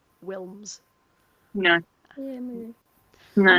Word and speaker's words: Wilms: But it's like Lynn Wilms, like because she's Dutch, the W is obviously pronounced like a V, Yeah. but everybody still call her Wilms.